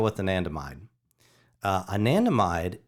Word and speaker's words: anandamide: the nanda mine uh anandamide is ananda is a sanskrit word that means bliss so anandamide